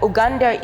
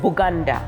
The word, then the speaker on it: Buganda: over here is uganda uganda is the bastardized pronunciation of bugandia by the swahili when they came during the indian ocean coastal so when they were asked of the coast what is that huge kingdom in the midst of this land because they could not pronounce bee they always said buganda buganda buganda and usually to the